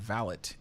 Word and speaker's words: valet: research to know that the word valet is a correct way to pronounce it, as well as valet. Just depends on if you're British or if you're French or if you're American, because they each say it differently.